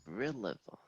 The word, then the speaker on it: Rillavon: Rillavon. Interesting. Right, would you mind saying that again? Yes, it is spelled how it sounds. It is Rillavon.